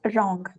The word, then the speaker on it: wrong: And here also W is silent and we need to pronounce it as wrong.